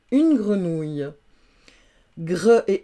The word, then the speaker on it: grenouille: Et puis le son OU, il peut être aussi au féminin, donc il va s'écrire O-U-I, deux L-E, ouille, comme dans grenouille, une grenouille.